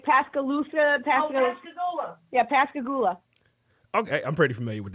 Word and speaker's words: Pascagoula: him what part of Mississippi how do you pronounce the Mississippi it's like Pascal Luther yeah Pascagoula okay I'm pretty familiar with that okay I